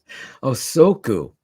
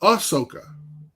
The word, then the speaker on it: Ahsoka: Osoku. Yeah. No, you don't need it. How do you say the name real quick? I won't forget it. Ahsoka? Osoka. No, Ahsoka.